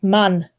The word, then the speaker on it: Mann: yeah, in German, man is pronounced Mann.